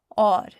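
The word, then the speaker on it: اور: the letters AU, and it makes the aw sound, as in the word or, which means and. Because the aw sound in or is the first sound in the word, we will once again use aleph for help. So or is spelled aleph, vow, and re.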